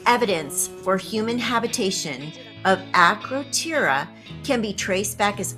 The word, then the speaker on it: Akrotiri: Akrotiri? I don't know. I pronounce everything wrong. It's pronounced Akrotiri.